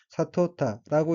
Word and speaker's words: 悟った: 셋째 줄 첫 번째 어휘는 한자가 깨달을 오자이고 일본어로는 사토타라고 읽으며 사토타는 깨닫다, 분명히 이해하다, 득도하다 라는 뜻의 타동사 사토루의 과거형으로 사토타는 깨달았다는 의미입니다.